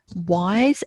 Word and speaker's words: Weiss: I'm going to say Robert Wise, and it's spelled Weiss.